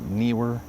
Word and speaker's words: Neewer: N were is that how you say it? I always called it newer, but new were.